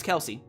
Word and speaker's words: Kelce: a football player named Travis C pronounced Kelsey oh okay Travis Kelce and the NFL can't